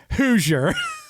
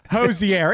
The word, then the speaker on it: Hozier: Hoosier. Hoosier. Hozier.